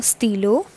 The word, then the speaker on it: stylo: Here, one thing that has to be kept in mind, that you need not to pronounce this T as T. This T is basically known as T in French, and accordingly, this becomes a stylo, which is a pen.